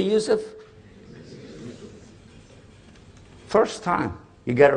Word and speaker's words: Yusuf: going to be in english my name is yousef can you say yousef first time you got it right all these years my wife still pronounces it useless it could be a speech and peppermint i'm